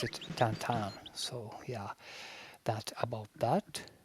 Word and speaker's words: Tintin: I was in Belgium once, and when I pronounced it Tintin, they got really offended. You're actually supposed to pronounce it Tintin.